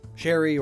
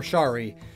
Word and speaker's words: Sheree: catchphrase is zip zoom Sheree could be pronounced two ways Sheree or Shari the anglo-saxons meaning is